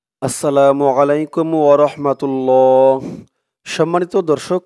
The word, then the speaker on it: عليك: দিয়ে ইয়া ধরবে, লাই আলাই কা আলাইকা। লাইসা আলাইকা আলাইকা। আইনের উচ্চারণটা গলার ভিতর থেকে শক্ত করে আনতে হবে।